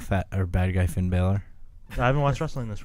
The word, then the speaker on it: Balor: All Do right, you do you have anything to add about fat or bad guy Finn Balor?